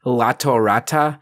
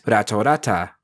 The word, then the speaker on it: Ratorata: Ratorata comes from lion, tora, and cheetah, which in Japanese, any words with an L, like in lion, sounds closer to an R.